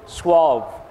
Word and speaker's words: suave: How do you pronounce it? Suave.